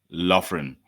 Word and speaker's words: Loughran: Yes, Colin Loughran.